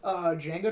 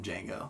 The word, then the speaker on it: Django: you know the original Django was in Django yeah yeah that's great great scene the D is silent I know I know